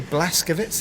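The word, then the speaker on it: Blazkowicz: and you as uh is it BJ blaskovits is that how you pronounce his name yes it is indeed so he's been captured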